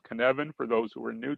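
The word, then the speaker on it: Cynefin: who are familiar with the Canan C YN fi n Welsh word pronounced canvan for those who are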